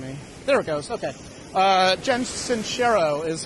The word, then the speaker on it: Jen Sincero: I'm going to be listening to, I just finished a really good book by Jen Sincero, is how you say her name.